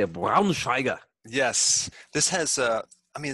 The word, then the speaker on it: Braunschweiger: I don't even can you pronounce it? I would say a Braunschweiger.